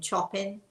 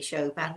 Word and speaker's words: Chopin: he's fascinated by he and I call him Chopin. We know it's really Chopin. We know, and we love to butcher the names.